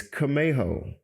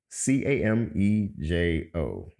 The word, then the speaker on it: Camejo: So it's Camejo, Camejo. It's actually a Hispanic last name.